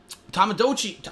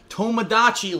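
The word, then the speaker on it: Tomodachi: to be doing um tomado DOI I said it wrong again I I swear to you I always say it wrong tomadachi Life The Sim game for Nintendo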